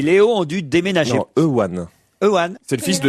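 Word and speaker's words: Euan: Ewan ou Ewan, vous dites Ewan vous? Bah, il n'y a pas de W, il n'y a même pas de R, il n'y a rien. Ça s'écrit E-U-A-N. Voilà, donc. Pas facile à prononcer ça.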